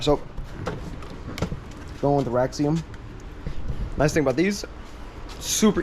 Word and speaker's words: Raxiom: Or, yeah, Raxium, I think it's pronounced.